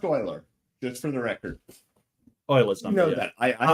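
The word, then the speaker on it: Euler: fi and E ul's number none that it's pronounced Oiler just for the record Oilers you know that I I had to learn that from somebody correcting me but it's not pronounced uler it looks like it's pronounced uler it's pronounced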